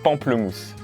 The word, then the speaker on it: pamplemousse: You said pamplemousse.